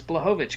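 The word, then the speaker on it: Błachowicz: uh and then the ironic thing is they pronounce blojovic correctly so sure i that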